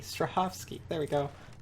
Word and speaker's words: Strahovski: Ivon Strahavoski. No wonder you can't remember her name. Miranda, is he voiced by Ivon Straavosski? Strahovski. Strahovski.